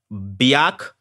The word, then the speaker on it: Biak: by common street names is Biak not beyotch beyotch you got